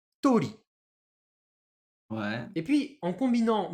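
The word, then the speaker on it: 鳥: Et oiseau, je le prononce tori.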